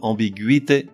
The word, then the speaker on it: ambiguïté: ou G-U tréma I, que l'on prononce gui comme dans ambiguïté ou contiguïté, avec un tréma indifféremment placé sur le U ou sur le I.